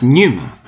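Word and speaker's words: πνεῦμα: and here it is spirit in Greek pronounced Numa and there we even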